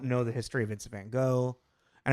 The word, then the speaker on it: Van Gogh: the history of Vince Van Go, and I know we're not pronouncing it correctly, technically, Vince go. It's Van Go or whatever.